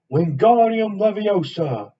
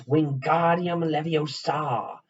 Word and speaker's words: Wingardium Leviosa: having much more luck wingardium leviosa he shouted waving his arms long like a windmill just saying it wrong harry heard her mighty snap it's wingardium leviosa make the gar sound nice and long you do it then